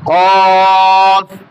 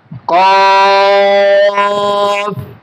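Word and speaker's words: كاف: জিহ্বার গোড়া থেকে মাখরাজটা হচ্ছে জিহ্বার গোড়া থেকে একটু আগে বাড়াইয়া, কাফ।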